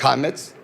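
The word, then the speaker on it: חמץ: Y fíjese que interesantemente, la palabra leudado que aparece ahí, viene de una palabra hebrea que se pronuncia en español hametz.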